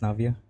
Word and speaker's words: Navia: It's pronounced Navia.